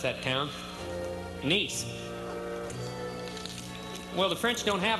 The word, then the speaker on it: Nice: You know, that's how they pronounce that town. Nice.